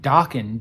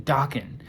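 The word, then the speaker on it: Daken: this is wolverine's son i think you say his name dawkin d-a-k-e-n dawkin uh he's got two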